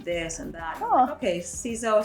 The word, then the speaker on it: Ciseaux: to pronounce it because it was french it's not english so it was s-e-e-08